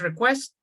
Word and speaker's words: request: Just one thing, request, right? Pronunciation is request, what the customer needs, some processes, And Okay.